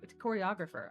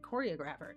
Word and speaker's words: choreographer: Orisa tide choreog choreographer. I almost said choreographer. Choreographer is how you say that word, but the emboss is on the wrong syllable.